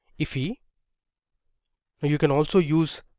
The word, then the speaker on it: IIFE: So this is known as an immediately invoked function expression, or IIFE, which is often pronounced as IFE.